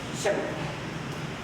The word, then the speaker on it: Shema: Ang tawag po dyan is the Shema. Actually, ang pronunciation niya ay Shema.